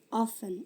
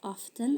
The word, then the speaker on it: often: Listen, whistle, fasten, often. Ini ada yang baca often, ada yang baca often, dua-duanya sama boleh.